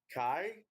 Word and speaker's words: Khy: Kai?